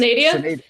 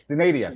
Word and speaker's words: Synadia: Anyways, I think it's Canadia? Synadia. Thank you, Synadia.